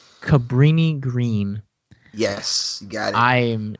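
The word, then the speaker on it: Cabrini-Green: Cabrini Green. Cabrini Green.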